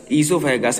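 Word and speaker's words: esophagus: स ओ सोफे अगस इसोफागस हमारा काज है ओ साइलेंट है एंड फेनिक्स है और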